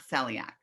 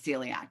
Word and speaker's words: celiac: then also celiac um it sounds like the word like the letter c or that we see something with our eyes not celiac so it's celiac so i would i